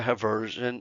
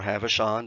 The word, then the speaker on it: Haversian: And then there's a central region called the Haversian or Havishon, depending on how you want to pronounce it, or what we sometimes